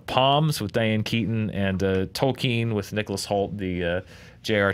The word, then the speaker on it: Tolkien: Tolkien? He goes, it's Tolkien.